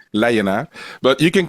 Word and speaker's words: Leijenaar: Well, my last name is pronounced Leijenaar. Leijenaar. On the Dutch way, Leijenaar.